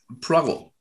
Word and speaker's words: Poirot: Wie wird er ausgesprochen? Poirot, genau.